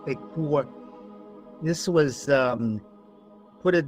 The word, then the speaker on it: Ekur: Joseph Farrell in his latest book, The Demon in the Eur is actually pronounced Ekur, this was um put it this way, the